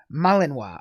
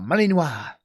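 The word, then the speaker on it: Malinois: Pronounced Malininoa. Oh, Malininoa. Belgian Malininoa. Well, I'll keep that on the list of dogs to get if I ever get one.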